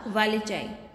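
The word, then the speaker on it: wallichii: कारा वालिचाई, ठीक है, ये आपको याद रखना है। वालिची बोलो या वालिचाई बोलो, दोनों एक ही है।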